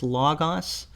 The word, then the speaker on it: Logos: mentioned in the comment Logos Bible Software the Greek word is law Goss but I think a lot of people usually pronounce the software logos so that's how I'm